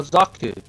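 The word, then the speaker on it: Xaku: X or Q yeah x x a KU oh zaku zaku that's it I couldn't pronounce his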